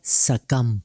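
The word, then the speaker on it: succumb: होगा बल्कि होगा सटल इसी तरह सकम बी साइलेंट रहेगा सिर्फ एम तक साउंड आएगा और दूसरा है थम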